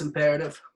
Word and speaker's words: Im'peretiv: Pelle er ETI B it's the way the way it sounds not the way it's spelt that's what's up brother